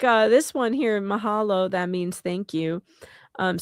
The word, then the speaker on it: mahalo: See like uh this one here, mahalo, that means thank you. Um so you just pronounce everything like with a everything gets a sound.